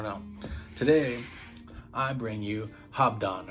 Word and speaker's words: Habdan: today i bring you hobdon or habdan however you want to say it i've heard it pronounced you know a couple different ways but um i say hobdon so whatever but here's